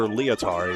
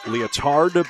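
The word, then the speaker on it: Lietar: And it is Peter Leotard, you pronounce it. Leotard, but Leotard. L-I-E-T-A-R.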